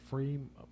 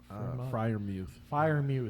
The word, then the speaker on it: Freiermuth: Freiermuth. Freiermuth.